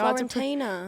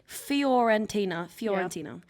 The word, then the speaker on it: Fiorentina: Florentina. It's not called that. That's why I didn't. called? I didn't want to try and pronounce Florentina, it. no, it's- I can't pronounce it. Let me go. Fiorentina.